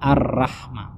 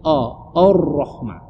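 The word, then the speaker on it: الرحمن: anak muda sekarang itu arroh dibaca ar-rahman gironya tidak ditebalkan merasa harusnya Roro itu ditebalkan jadi bacanya dari tahu Rohmah itu perlu kedua-duanya huruf alif karena awalnya dibaca tebal makanya menjadi our Rohma Ini dua-duanya mesti dijaga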